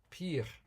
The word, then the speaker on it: pear: They will be the PEAR. PEAR, or it's of course PEAR, with the A, which is not pronounced, but the PEAR, I have a pattern.